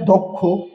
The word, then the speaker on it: দক্ষ: রয়েছে তাই ক এবং খ এর মত হয়েছে উচ্চারণ তারপরে দেখেন দক্ষ দড়ে হচ্ছে কি যে ক খারে দক্ষ তেমনিভাবে